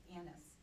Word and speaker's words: anise: So he In is. America, we pronounce it anise.